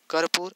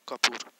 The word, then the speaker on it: कर्पूर: कर्पूर उच्चारण सही कीजिए, कर्पूर और कपूर दोनों में अंतर है, कर्पूर और कपूर।